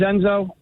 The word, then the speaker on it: Enzo: spell it um well the Enzo is short for um it is but my name is actually just en zo right okay and it's